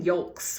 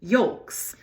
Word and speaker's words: yolk: I feel like I'm pronouncing the L too much in that word, the egg yolk.